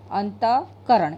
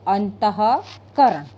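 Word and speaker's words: अंतःकरण: करण के अंतः करण ऐसे बोलेंगे तो अंतकरण अ है और भी सर के साथ में बोलेंगे तो अंतः करण तो एक-दो बिंदी जो पीछे लगाई जाती है उसका उसका उच्चारण होता है अ कि क्या उच्चारण होता है उसका दो भिंडी का हक के विसर्ग का उच्चारण है उखड है तो हम बोलेंगे अंतः करण अ है ऐसे बोलते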